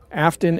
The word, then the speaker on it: Aftyn: And Substack Afton is spelled AF TYN.